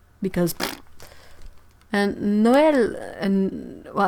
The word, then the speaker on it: Noël: And you don't pronounce the X because and Noël, and well, I think in English you would maybe say Noel, but since there's this 2 dot thingy on the E, it means it's a